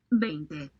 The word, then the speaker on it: veinte: veinte, veinte, veinte, Viente, veinte, veinte, viente, veinte, viente, veinte, viente. veinte, Yeah, keep listening to it. Viente, V-E-I is way, ente. Ente is ente.